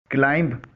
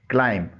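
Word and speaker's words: climb: क्लाइम, इसे आमतौर पर क्लाइंब बोला जाता है, जो गलत है। इसमें बी साइलेंट है। इसकी सही प्रोनंसिएशन है क्लाइम। इसके मायने चढ़ना है।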